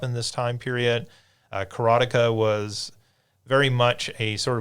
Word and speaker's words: Karateka: the making of karateka there is some debate about how to pronounce carotica that is the way I've always heard it pronounced so I'm just going to go with carotica um there is the